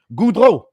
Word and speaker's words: Goudreau: I will pronounce his name the way it is supposed to be pronounced in French. Goudreau.